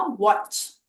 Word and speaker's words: watch: अब next word है वॉच, एज इन घड़ी, WATCH। तो इसमें टी को हम साइलेंट रखते हैं या ड्रॉप कर देते हैं, तो इसका साउंड हुआ वॉच, च।